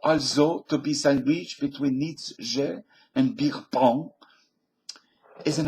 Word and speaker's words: Nietzsche: The article said something like, faced with Nietzsche, and that's the correct pronunciation, folks. It's not Nietzsche.